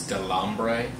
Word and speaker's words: Delambre: as the character of andre how do you pronounce his last name i think it's delambre yeah i think i think you're saying it